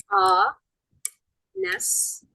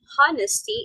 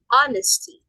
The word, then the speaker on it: honesty: You do not pronounce the letter H. It's silent H.